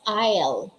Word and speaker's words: aisle: word number six taiyo is isle that is pronounced as isle okay i'll silent s hindi binabasa when we